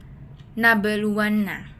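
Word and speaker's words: نبلونّ: Karena ada huruf ba bertanda sukun di tengah kalimat yang cara membacanya adalah huruf ba dipantulkan secara ringan. Contohnya nabeluanna dengan ba terdengar memantul.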